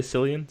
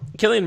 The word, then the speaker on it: Cillian: how I've said it I've heard it said someone would say Sicilian so I wasn't sure okay so Killian Murphy really something odd about